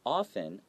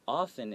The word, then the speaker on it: often: anything they say and often often it has a t but a lot of times we don't pronounce that T excited often so you some people say often but it's more common to say okay they often look